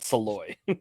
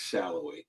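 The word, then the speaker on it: Salloi: pronounce it wrong but I know it's not saloy give me a pronunciation gu I'll figure it out guys it's shallow shallow there we go thank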